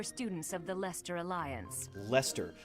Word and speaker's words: Leicester: of the leicester alliance lester look at all those extra words in between or extra letters i'm sorry lester right so you need the l and then the e-s-t-e-r but there's an extra e i and c in there that doesn't make